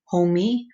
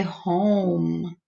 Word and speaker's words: home: And I can't hear this E. I don't say homie. I say home. So it sounds like I'm stopping at the M.